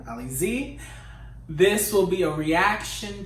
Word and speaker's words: Alizée: Alizée.